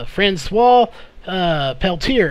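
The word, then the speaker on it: François Peltier: of the pro Kern correct pronunciation of that name is Francois Peltier is actually how you say the name I actually had to go and confirm that with him to make sure we got it right tonight well welcome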